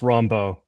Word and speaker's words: Rombough: So Rombough, am I pronouncing your last name right? Maybe you can. It's close. Rombough. Rombough.